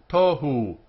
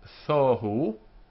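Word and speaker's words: תֹהוּ: Tohu, in the Araki pronunciation, thohu, but in Spanish and Portuguese, and in modern Hebrew for that matter, tohu, tohu. Desolation is the translation here, but it really means confusion, emptiness, void. Tohu. So the first syllable, t, then we have this dot here, which is the sound o.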